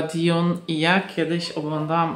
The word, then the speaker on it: Dune: jak to się czyta pisze się Dune czyta się chyba diun i ja kiedyś oglądałam